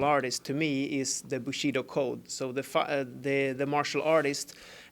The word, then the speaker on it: Bushido: Bushido.